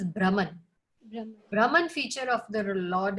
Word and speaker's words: Brahman: This is not pronounced as Brahman, this is Brahman.